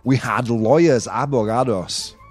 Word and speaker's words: abogados: In position number 5 we had lawyers, abogados. Not avocados, right? I know my pronunciation is bad.